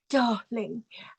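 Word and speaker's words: dahling: an H instead of an R so it's pronounced darling and also the say on Instagram it's disabled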